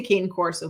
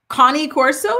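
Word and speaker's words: Cane Corso: There's another pronunciation in the chat for I say Kane Corso. What is it? Oh, Connie Corso. Is that Connie Corso?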